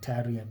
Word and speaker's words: thallium: Use the periodic table to help you answer the following questions about uh you know, thallium or tallium if you're pronouncing it that way.